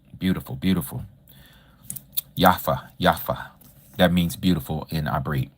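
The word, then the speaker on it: יפה: Yafa. Yafa that means beautiful initiate. Some people pronounce it yappa. Yapa with a P or with the F sound.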